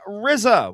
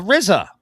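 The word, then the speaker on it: RZA: The legendary Rizza was officially honored with the culture pronounced like pizza.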